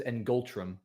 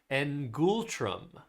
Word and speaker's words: ngultrum: I would pronounce this ngultrum. Okay. So, that's close, but I don't think that's correct. I think the pronunciation is All right, it's ngultrum.